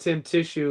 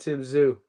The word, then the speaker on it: Tim Tszyu: It's not pronounced Tim Tissue. It's pronounced Tim Zoo.